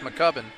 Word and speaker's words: McCubbin: uh mccubbin with it I was saying the cube and I guess that's pronounced mccubbin mccubbin with the foul